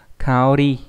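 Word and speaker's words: 香り: Thì hương này đọc là kao trong từ kao kaori, đúng không?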